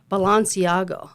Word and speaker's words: Balenciaga: And then just a few weeks after that, we have Balenciaga.